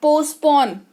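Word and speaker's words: postpone: स्थगित करना या टाल देना, पोस्टपोन पढ़ते हैं इसको। क्या पढ़ते हैं? पोस्टपोन, ठीक है। पोस्टपोन नहीं पढ़ते हैं प्लीज, पोस्टपोन नहीं होता है, टी साइलेंट है यहां पर।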